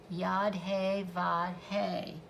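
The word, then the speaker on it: Yod He Vav He: It is pronounced Yad-He-Vad-He, and it has to do with all four elements and the creation process.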